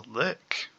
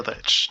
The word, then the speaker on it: lich: It's an acolyte, but this time it's a lick or a lich, depending on how you want to pronounce it.